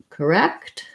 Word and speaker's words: correct: wouldn't okay good so for correct um in this case i will probably release and say that t sound because it has a c with it correct correct um and second syllable stress has the e vowel